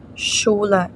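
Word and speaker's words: Schule: Зараз ми про них всіх поговоримо наприклад с читається як ш шуле школа щойне сарай шні сніг с буква сполучення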